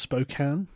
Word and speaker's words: Spokane: it that way hi song from Spokane it's pronounced Spokane no also known as Spokane is that is